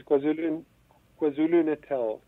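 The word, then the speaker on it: KwaZulu-Natal: How do you pronounce that? Yes, KwaZulu Natal.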